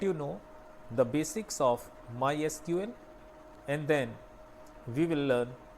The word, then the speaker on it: MySQL: इसको हम pronounce MySQL जैसा कि मैं कर रहा हूँ MySQL करते हैं।